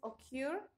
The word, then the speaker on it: occur: El primero, que es occur, fíjense, son dos sílabas, occur, y se está enfatizando en la última sílaba, y permit, ¿no?, que también tiene esta característica.